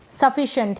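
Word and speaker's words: sufficient: इसको एस को तो स पढ़ रहे हैं लेकिन इस सी को हम श प्रोनाउंस कर रहे हैं।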